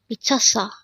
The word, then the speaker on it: 미쳤어: This pronounces a three-syllable word. The first syllable is mi, the second syllable is 쳤, and third syllable is 어. And this is pronounced as 미쳤어 or 미쳤어.